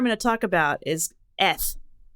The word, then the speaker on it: eth: So the first letter I'm going to talk about is eth. And it sounds like you're saying S, but with a lisp.